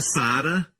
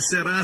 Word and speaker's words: Sara: Se o seu nome é Sara, seu nome é princesa. Amém? Eu digo aos meninos, não pronuncie será, será, será. Diga romanticamente, Sara.